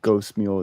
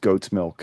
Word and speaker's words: Goat's Milk: It's not Ghost Mule. It's pronounced Goat's Milk.